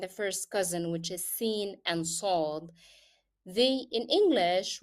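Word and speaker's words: س: So the first letter is seen. That is the soft letter. So I have to make it like seen, seen, very soft.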